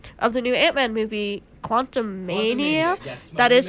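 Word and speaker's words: Quantumania: spoiler free review of the new Ant-Man movie Quantum Mania that is how you say it my parents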